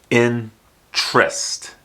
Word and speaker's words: interest: pronounce these three words to pronounce this word properly most people will use just two syllables in trist the a ENT is